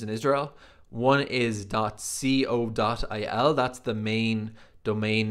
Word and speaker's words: co.il: i would call that code dot il like dot co dot uk but the way israelis pronounce it is dot c o dot il i wanted a very